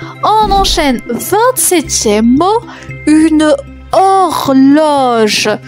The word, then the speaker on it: horloge: 27e mot une horloge. Attention, il y a une lettre muette.